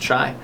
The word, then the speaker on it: chia: You read it, it looks like chia. It's actually pronounced chai.